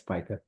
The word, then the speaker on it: Pika: Is it Pika? I want to make sure I'm pronouncing that correctly. Yeah, it's Pika.